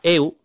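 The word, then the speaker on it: εὖ: la 2095 que es un adverbio que se pronuncia eu y que significa Bueno por lo tanto Cornelio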